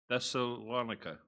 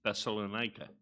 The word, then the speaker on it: Thessalonica: no idea how to pronounce i have been pronouncing it as thessalonica for many many years and my understanding the correct pronunciation is thessalonika so let's begin reading now when they had